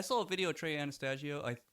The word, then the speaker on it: Anastasio: Even though like I saw a video of Trey Anastasio. Anastasio, is that how you pronounce it?